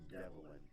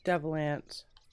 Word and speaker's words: Devilance: I thought it was Devin or something. Nah, it's actually full on Devilance. It's Devilance. Devilance, yeah, Devilance. No, it's Devilance.